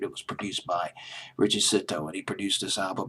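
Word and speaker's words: Zito: cson a song uh stand produced by Richie sitto C like the last letter in the alphabet always have Pro pronouncing C's c sitto c i t o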